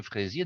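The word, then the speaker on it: Freizier: allez me dire, mais est-ce qu'il y a un rapport entre ce monsieur Fraisier, dont le nom s'écrit F-R-E-I-Z-I-E-R, et la fraise?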